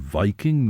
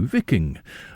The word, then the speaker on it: Viking: here though he says as to the pronunciation the ordinary usage is justified by the derivation the i in Viking was long if our correspondent wishes is to get closer to the original pronunciation he should say vking well Shen Chris